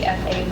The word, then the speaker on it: BEFA: the execution of anou with I Is it pronounced BEFA partners? That's BFA. Okay. BEFA partners that lays out uh terms for a partnership in which strategic HFC would serve as general partner.